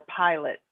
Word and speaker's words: pilot: Or pilot.